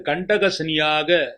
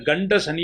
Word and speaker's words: கண்டக சனி: கன்னி ராசியிலே பிறந்தவர்களுக்கு இந்த வருடம் உங்கள் ராசிக்கு கண்டக சனியாக சனி பகவான் உங்கள் ராசியை பார்வையிடுகிறார். நிறைய பேர் கண்ட சனி என்று தவறாக உச்சரிக்கிறார்கள். இது கண்ட சனி அல்ல, கண்டக சனி.